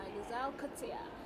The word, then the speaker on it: Louzanne Coetzee: My name is Tubegonoila, your host, and today we are joined by Louzanne Coetzee. Did I pronounce it properly?